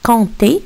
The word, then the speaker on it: compter: Nous avons aussi compter, le mot compter. Le P ici n'est pas prononcé.